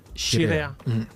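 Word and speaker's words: Scirea: Alors, et SC en italien, c'est Chirea.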